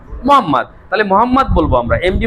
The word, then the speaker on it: মোহাম্মদ: মানে এমএসটি এই উচ্চারণটা না করে বলবা মোসাম্মদ। আচ্ছা আমরা অনেকে এমডি বলি না। MD Shubho my name MD শুভ। এটা চাকরি হবে না তোমার শেষে। এমডি না মোহাম্মদ।